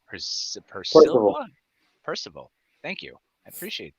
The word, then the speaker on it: Percival: Percival.